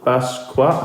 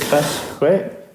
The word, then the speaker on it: Basquiat: Oh, Jean-Michel Basquiat. How do you say it? Basquiat, the artist. Basquiat. Jean-Michel Basquiat.